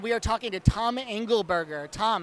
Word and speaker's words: Angleberger: overthinking it and we are talking to Tommy angle burger Tom how are you doing I'm doing great and you pronounce my name right this guy be practicing